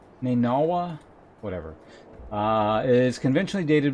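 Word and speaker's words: نينوى: Is that how that's pronounced? Nineveh? Nineveh? In Arabic, it's Nainawa, whatever.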